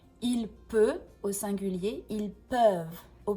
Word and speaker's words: peut: Donc il y a une différence dans la prononciation e. il peut au singulier, ils peuvent au pluriel.